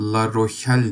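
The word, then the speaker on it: La Rochelle: La Rohel diye okunuyordur sanırım Fransızca.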